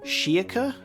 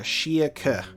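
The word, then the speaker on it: Schierke: And the way that the majority have written it is more of like a Shiaka, like a K at the end. Shiaka.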